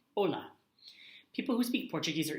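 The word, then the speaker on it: Olá: H Ola and HSN right here it's just Ola Ola people who speak Portuguese are either from Portugal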